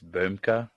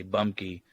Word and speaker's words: Rheude: say your last name in Germany there's no uh e or H it's boomka but in in Iowa they say bunky and in California we say bemke benke yeah but I